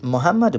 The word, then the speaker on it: Muhammadu: check it out President Muhammadu Buhari Muhammadu Buhari his name is spelled with Double M and a you at the end that's Muhammadu Buhari now this is a